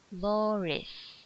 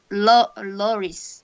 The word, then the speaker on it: Loris: Low Yeah, Loris. Loris. Yes. Okay, say it with me. Slow. Lo. Low Loris. low slow Lowish. Slow. Lo. Lowish. Riz, not Rish. Riz. Loris.